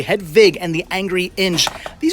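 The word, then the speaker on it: Hedwig: the vampire and hedva head Vig do not pronounce that W incorrectly head Vig and the Angry Inch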